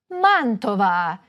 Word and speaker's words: Mantova: However, some words are stressed on the third-to-last syllable, such as MAntova, GEnova, Udine.